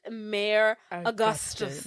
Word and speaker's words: Mayor Augustus: like whoa whoa whoa that's not how you say my name um my name is pronounced mayor Augustus and he's like confused